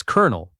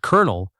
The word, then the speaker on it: colonel: Number five is Colonel. This one surprises everyone. It has no L sound at the start at all. It sounds exactly like the word colonel. Like corn colonel.